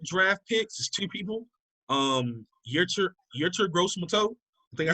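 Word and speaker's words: Yetur Gross-Matos: Yertur Gross-Mato. I think I say his name right. Yertur Gross-Matos. There you go. Matos. Yeah. Tomatoes.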